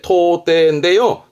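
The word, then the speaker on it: 到底: 이게 발음은 토떼인데요.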